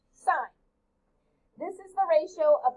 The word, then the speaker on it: sine: these ratios is known as the sine ratio pronounced sine this is the ratio of the length of